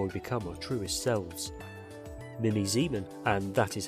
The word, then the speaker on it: Mimi Zieman: story and how we become our truest selves Mimi Zan and that is how you pronounce her name as you're here was raised